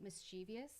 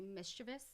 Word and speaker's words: mischievous: One of the other words that surprised me when I was learning correct pronunciations was that most people say mischievous, but it's actually mischievous.